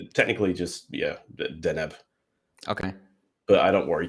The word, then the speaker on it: Deneb: no, it's technically just Deneb.